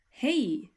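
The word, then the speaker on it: hej: is quite simple and it's pronounced like this hey hey can you say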